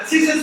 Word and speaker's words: tzitzit: How do I pronounce it? Tzitzit.